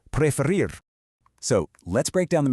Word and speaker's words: preferir: The absolutely crucial point is that unlike a lot of the other verbs we're looking at today, the stress unexpectedly falls on the back half of the word.